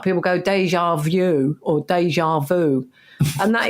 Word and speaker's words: déjà vu: Is déjà vu. That's how you say it. Vu. You have to do this thing. Yeah, like you say. Yeah, with your gob.